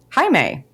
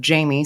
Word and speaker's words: Jaime: out in episode 6 the Spanish pronunciation of my name, Jaime. Although it is not important, it's very kind of you. In any case, the Anglophone version of Jamie sounds cool to me.